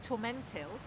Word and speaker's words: tormentil: And the reason it's called tormentil, if you actually spell it out, it's torment ill.